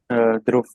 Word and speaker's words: Dhruv: say, "Hey, by the way, how do I pronounce your name?" Dhruv.